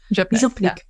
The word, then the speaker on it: župnik: Župnik.